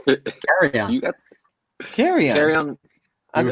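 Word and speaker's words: Kerryon: Because that's actually how his name's pronounced, Carry On. What did I say? You're saying Carry On. It's like Carry on my wayward son.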